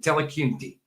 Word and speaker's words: Dillahunty: It's pronounced slightly different, but Dillahunty.